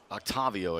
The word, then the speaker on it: Octavio: wanna know to octavio octavio i should say that's how you say it here's the pitch low